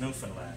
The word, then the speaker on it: Newfoundland: Now, a scuff is a dance, and India in Newfoundland is delicious beer, and it's pronounced Newfoundland, just like the dog there.